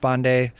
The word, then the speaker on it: Pandey: family of course my my last name is pronounced bande um and that's how I identify and that's certainly a normal part of my background in my culture and my identity but somehow like with the outside world I always just pronounced it Pandy and again I think